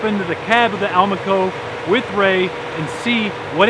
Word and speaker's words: Almaco: going to pop into the cab of the Alma Coe with Ray and see what it takes to